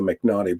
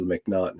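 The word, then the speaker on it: M'Naghten: or the mcnaughton defense i call it the mcnaughty but it's the mcnaughton it's how it's pronounced is actually the first you know game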